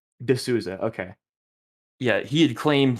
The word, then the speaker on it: D'Souza: I think it's D'Souza. D'Souza, okay.